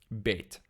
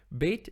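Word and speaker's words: ב: a began kapha letter bhagat kapha letters are special because they can be pronounced in one of two ways either as ba or the way you can tell how to pronounce it is whether it has a dot in it bait with a dot is pronounced ba or hard and bait without a dot is pronounced v or soft this dot is called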